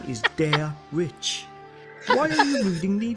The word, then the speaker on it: Derich: my name wrong again dare rich with a rich not Rick why do you keep saying D Rick mayara you keep saying